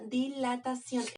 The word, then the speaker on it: dilatación: calor se le llama dilatación. Ese concepto se lo tienen que aprender. Lo voy a poner aquí entre paréntesis. Dilatación con acento en la O.